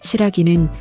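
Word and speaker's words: 新羅: 일본의 여러 지역에 시라기라는 지명이 남아있는데 시라기는 신라의 일본식 발음입니다.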